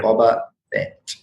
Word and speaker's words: Bobaphet: PH, like hip hop, PH instead of F. So just think Star Wars, Bobaphet, but instead of F, it's PH. So BOBAPHET. Yeah. Bobaphet.